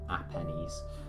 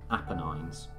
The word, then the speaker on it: Apennines: the Italian peninsula Harvey Apennines believe that I pronounce it not a pennies Apennines question 11 Mozart was